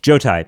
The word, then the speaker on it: Jotai: Jotai, yeah. Jotai. Yeah. Two syllables.